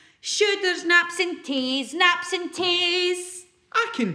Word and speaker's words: taes: But in Scots, toes is Taes and nose is neb. And neb doesn't rhyme with Taes.